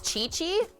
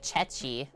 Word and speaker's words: ceci: then we'll get started it's chichi and I was saying it like chechi hi cooker dog how's